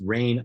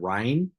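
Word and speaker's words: Rein: pronounced incorrectly a lot because it's rain re n but it looks like the German word Ry um not RH i n e but re e i n is pronounced Ry in German but rain was originally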